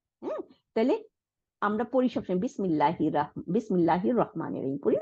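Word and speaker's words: بسم الله: দেখেন আলিফ লামের আ, এই হামজাতুল ওয়াসলকে আমরা উচ্চারণ করতেছি না, আমরা বলতেছি না যে বিসমি তারপরে আল্লাহি, এটা বলতেছি না, আমরা বিসমিল্লাহ।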